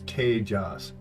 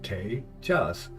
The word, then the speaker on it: Tejas: Like my name is Tejas. 2 syllables, Tejas.